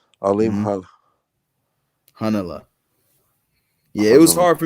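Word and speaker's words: Alimkhanuly: Yeah, it's Hanala. Alim Hanala. The KH. Alim Hanala.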